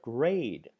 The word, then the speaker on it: grade: The silent E turns this A into a long A sound, as in the word grade.